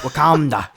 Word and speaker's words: Wakanda: He didn't say it right. Wakanda.